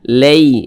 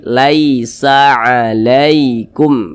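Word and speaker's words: لَيْسَ عَلَيْكُمْ: dilunakkan ya Mudah saja jangan sampai condong ke e nah jangan dibaca Lei Laisa alaikum jangan n tapi Laisa alaikum begitu itu perlu diperhatikan ya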